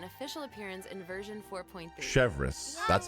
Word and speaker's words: Chevreuse: Chevreuse, that's how you say it.